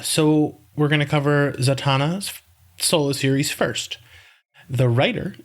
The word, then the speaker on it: Zatanna: So Zatanna, I've always called her Zatanna for some reason. And the name of our file for this episode is ZAT-ANNA. Zatanna.